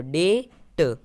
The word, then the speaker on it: debt: तो DEBT, यानी अंत में क्या आ रहा है? बी टी आ रहा है, तो हम बी साइलेंट रखेंगे। तो इस तरह से DE को हम डे पढ़ेंगे और बी हमारा साइलेंट है तो साइलेंट रखेंगे, और टी को हम ट पढ़ेंगे, तो डे ट।